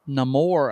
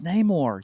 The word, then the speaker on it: Namor: on the beach, and he called himself Namor, and I was like, "It's Namor. You can't even pronounce the name right.